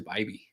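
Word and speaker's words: Bibee: I think it is Bibby, which sounds weird, doesn't it?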